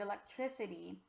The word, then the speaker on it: electricity: so my friends you'll notice that for the word electricity the eye is actually a short eye sometimes we have to